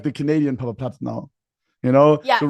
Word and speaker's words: Papaplatte: It's in Germany we say Papaplatte, but there are also some Germans who can't pronounce it, so it's fine.